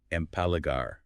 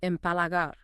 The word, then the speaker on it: empalagar: Empalagar. Ooh, yes. Let's pronounce that. Empalagar.